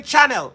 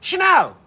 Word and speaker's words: Chanel: properly she says TR I am NOT Tiffany channel like a channel I am Tiffany Chanel you know when a